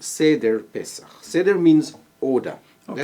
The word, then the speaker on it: Seder: Is it a Seder? Am I pronouncing it correctly?